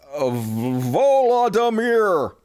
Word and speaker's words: Volodymyr: Zelensky's name is pronounced Volodymyr. Love your show. Vladimir?